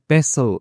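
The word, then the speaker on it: pestle: यू आपको where the पैसल इज तो कहां पर है इसमें टी साइलेंट होता है पैसल में मूसल पैसल होता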